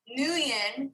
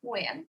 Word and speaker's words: Nguyen: I try, but because the NG is like you got to get it like the, and then it's like sing, right? Like the best way it was explained to me is think of sing, but take the sound at the end and put it at the beginning.